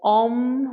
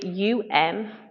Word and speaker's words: Om: pranama I was reading about the importance of om which is pronounce a u m um rather than om o m and it's